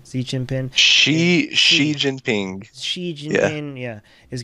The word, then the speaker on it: Xi Jinping: Right, Xi Jinping.